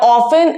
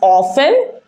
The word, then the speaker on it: often: Now, often is a word that you can pronounce in both ways. You can either pronounce it as often or you can pronounce it as often. Both are correct.